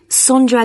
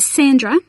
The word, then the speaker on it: Sondra: your name was again sondra de costa is that sandra no it's spelt with an o so that's s-o-n-d-r-a and